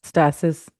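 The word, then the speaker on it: homeostasis: So the body constantly seeks homeostatis. Homeostatis means a balance, an internal balance. Have I pronounced it right this time? Homeostatis. Stasis. Stasis. Thank you.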